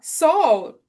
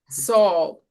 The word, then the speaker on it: Saul: Saul correct because I I you know I pronounce it as as I would see like so like an you know all all the letters right but soul surely soul and then Paul it makes sense right.